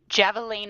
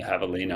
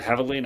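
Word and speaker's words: Javelina: Oh, the Havalina 100. There we go. My pronunciation really lacks. Yes, that one. The uh Spanish Spanish H for the J. Yeah, the Havalina 100.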